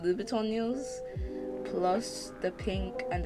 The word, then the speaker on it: Louboutin: I should have given her those Louboutin, I think that's how you say it, Louboutin nails, plus the pink and the red.